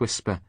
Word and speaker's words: Wixper: I should tell you after all this time that it's actually pronounced whisper.